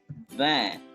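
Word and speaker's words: vingt: The last one is van. T is silent.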